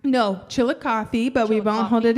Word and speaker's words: Chillicothe: So you are from Chillicothe, am I pronouncing that right? No, Chillicothe, but we won't hold Chillicothe.